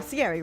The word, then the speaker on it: Cieri: Hello, Cieri, right?